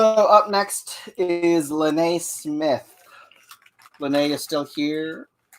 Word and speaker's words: Lene: Oh, I called her Laney. Sorry. Oh. I had to double check my notes just to make sure. I'm like, is it? Was I pronouncing it wrong? Yeah, no, I think it's just me. I thought it was like Laney, short for Elaine. That's just what I saw in my head. But yeah, no, Lene makes more sense.